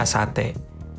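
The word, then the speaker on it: あさって: T yang pertama itu su kecil. T yang kedua adalah T, sehingga menjadi asate. Pengucapannya ditekan Minasan. Bagian T-nya itu jadi asate. Asate.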